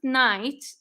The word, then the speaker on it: knight: actually solving the problem when we pronounced knight it's pronounced with an n and that's the second